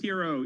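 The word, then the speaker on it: Herro: is pronounced uh her it is pronounced hero even though he spells it with two RS and he's the man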